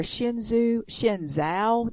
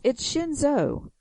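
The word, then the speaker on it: Shenzhou: But, I mean, Shinzo or Shinzao, that's what you just said. It's Shinzo.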